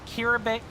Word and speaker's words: Kiribati: Okay, is it bass like fish or base like base boosting? Just so I know. Mr. Jason says, I know it could be annoying, but you do like how Unobo is always on a roll. Bass like fish. Kiribati.